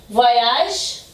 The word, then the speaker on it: voyage: E olha o nosso E o nosso E mudo aqui. A regrinha. Voyage. Terminei com o som do G, tá? Ele tá aqui pra me dizer, ó, pronuncie o som da última letra.